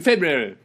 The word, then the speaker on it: February: I guess I'll catch up with you in February. How do you actually say it? Because it's spelt like February. February. Because everyone says February. That's how I say it. February. But that's not how it's spelled.